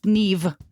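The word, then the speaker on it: Niamh: n a i m h wow and it's pronounced Neeve no V nothing just yeah isn't that crazy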